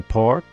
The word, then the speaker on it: porc: Because you don't pronounce a freaking C? Even though there's a C there, why put a C there if you're not going to pronounce it, huh?